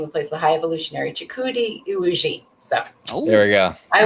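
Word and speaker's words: Chukwudi Iwuji: Sorry, I just I got how to properly pronounce the actor's name who plays the High Evolutionary, Chikudi Iwuji.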